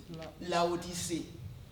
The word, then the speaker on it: Laodicée: Comment on prononce? Laodicée.